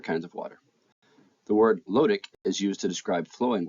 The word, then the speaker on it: lotic: If you get these, good way to remember is that the O in lotic rhymes with flow.